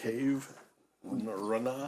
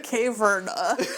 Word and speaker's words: Caverna: Caverna? Oh, okay. That you're trying to make. Cave? Rana? No, you had it right the first time. Caverna.